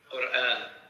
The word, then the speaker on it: Quran: Can Matthew pronounce the word Quran one more, please? Well, you're saying it perfectly. Quran.